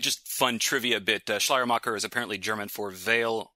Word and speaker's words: Schleiermacher: Although Schleiermacher, right? And is that how you pronounce it? Yes, it is. Yeah, Schleiermacher is okay. The way to pronounce it. It's just fun trivia bit. Schleiermacher is apparently German for veil maker, which absolutely